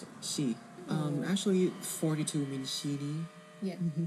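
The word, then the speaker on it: 四: Do you know how to pronounce it? Shi.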